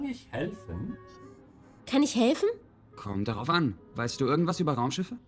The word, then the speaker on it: kommt darauf an: Kommt darauf an is how you say it depends.